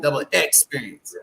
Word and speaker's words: Double Xperience: e n c e so it's without the first e so it's double X you have to pronunciate that double experience that's why I say it we'd be like double X experience because we try to